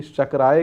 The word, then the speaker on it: शक्राय: शुक्राय नमः करके मत बोलिएगा, मेरा उच्चारण में यहाँ पे भेद नहीं है।